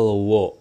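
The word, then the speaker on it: を: Yang berikutnya adalah partikel wo. Partikel wo ya, wo, wo, wa, wo, eng. Nah, wo. Tapi dibacanya o si minasang ya, kayak gitu.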